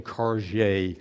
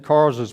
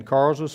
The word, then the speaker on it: Karge: sent Joseph Kars's brigade, and that's spelled Karge', and I want you to know that I got that pronunciation from Dr. John Marzalek, and since he's of Polish descent, and Karza was Polish, I'm going to trust his pronunciation. I'd been saying Karge', that's not correct.